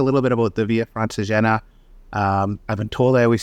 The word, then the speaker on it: Francigena: Yeah, Francigena.